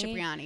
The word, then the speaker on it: Cipriani: He took me to, how do you pronounce it? Cipriani? Cipriani, yeah.